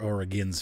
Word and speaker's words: Oregon: Springs and so or Oregon's Springs sorry for those who from or again here in Ohio we call it Oregon like it's spelled got a business office